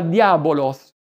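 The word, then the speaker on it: διάβολος: nemico, persecutore, accusatore, calunniatore, e che in greco si pronuncia diabolos, espressione che deriva dal verbo greco diaballò, che significa separare, dividere.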